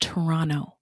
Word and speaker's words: Toronto: And it's pronounced Toronto. That's what the natives say.